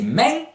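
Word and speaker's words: mens: Pour dire moins ou plus, ou et, moins c'est men, M-E-N-S, dont vous ne faites claquer le S que devant une voyelle, souvenez-vous de la vidéo sur la prononciation.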